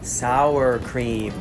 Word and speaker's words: sour cream: can taste our because there is a german word that sounds just like it sour sour cream sour cream sour cream so the